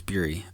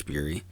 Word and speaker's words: Bury: Ben Bury, it's Bury. I think it's Bury, like Fury.